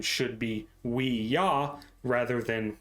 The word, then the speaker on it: Ouija: Ouija and explained that it was the German and French word for yes combined if this version is indeed the true origin it would imply that the correct pronunciation should be we yah rather than we G